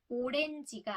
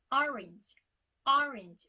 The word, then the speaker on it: orange: 입을 좁고 동그랗게 만드는 우리나라 발음은 오렌지가 아니라 orange 엄청 크게 이렇게 돼야 되잖아요.